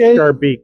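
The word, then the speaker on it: Schaerbeek: It's pronounced Charbeek. Those are SHE? there could be an alternative spelling, but usually it's Charbeek.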